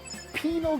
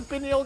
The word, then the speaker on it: pineal: The liver, the kidney, the lung, or the penal gland or pineal gland if you want to pronounce it the correct way.